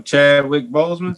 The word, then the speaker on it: Chadwick Boseman: Like, I was joking earlier about, like, Wakanda, Boss, how's it pronounce his name? Boseman, fuck. Chadwick Boseman. What's his name? So Chadwick Boseman.